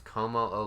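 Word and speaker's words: Kommo-o: No, which means Como-O is definitely a possibility.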